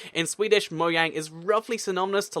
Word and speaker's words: Mojang: called Mojang, it's because in Swedish, by the way, that's why I pronounce it Mojang, because that's the official pronunciation. In Swedish, Mojang is roughly synonymous to